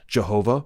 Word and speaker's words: Jehovah: These letters do not form a specific word, although in English-speaking countries the placeholder is pronounced Jehovah or Yahweh.